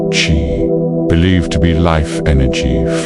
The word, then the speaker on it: qi: The underlying idea was to balance qi, pronounced qi, believed to be life energy flowing through the body.